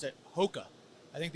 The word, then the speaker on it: ROCKA: We are actually even in Brazil now, and I think they pronounce it ROCKA. I think the R is an H in Portuguese, but I don't know.